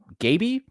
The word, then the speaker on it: Gabi: that's a new one my name has always been very hard for people to pronounce for some reason it's for Gabby like I immediately got that it was Gabby do people go uh